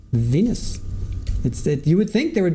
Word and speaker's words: venous: sounded like they said Venus. But it's spelled V-E-N-O-U-S, Venus.